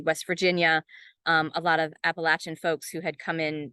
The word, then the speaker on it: Appalachia: epigraph by Sharon mccrum Appalachia is the pronunciation of condescension the pronunciation of the imperialists the people who do not want to be associated with the place and the pronunciation Appalachia means that you are on the side that we trust so here's my poem